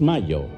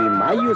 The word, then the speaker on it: Mallo: Y Mayo se escribe como gallo, L-L-O, Laboratorios Mayo.